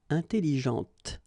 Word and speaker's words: intelligente: with an adjective, okay, intelligente. Same thing here. When you put this well, actually you will pronounce the final T, okay, but you don't pronounce this here. Intelligente.